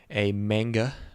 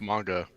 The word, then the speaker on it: manga: Oh, and also it's adapted from a manga, by the way. It's pronounced manga, actually.